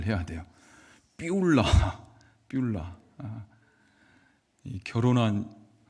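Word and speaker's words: 쁄라: 자, 여러분 발음을 잘 해야 돼요. 삐울라.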